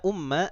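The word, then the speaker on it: أمَّ: Kalau saya tanya, tadi saya membacanya ya Umma Ahmada. Ya Umma Ahmada. Kenapa saya membacanya Umma bukan Ummu?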